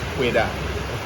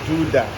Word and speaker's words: Ouidah: freda people okay and the language i speak is pueda now since europeans could not pronounce that correctly some will say judah some will pronounce wider the particular okay and the french will pronounce wida and you know benin